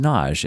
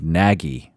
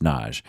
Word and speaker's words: Nagy: Naj NJ is pronounced Naj it is it is spelled n a y like like naggi or Nagi but it's pronounced Naj I've had many Patron